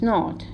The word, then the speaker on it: gnawed: It was gnawed, right? G is silent over here.